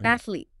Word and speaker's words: athlete: Athlete. Similar issue. I think similar issue. Yeah. Athletic. Athlet. But it's athlete. Athletic. Okay. It's just two syllables. Yeah. Okay. So, we got to we got to get rid of that extra vowel sound.